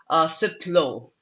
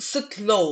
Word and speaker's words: Sitlhou: Sitlhou. Sitlhou. Okay. Yeah. Sorry. Mm. I'll do that again. Here to speak with us today is Sitlhou. No, I'm saying that wrong again. Just sit low, like like sit when Oh, you sit low, Sitlhou.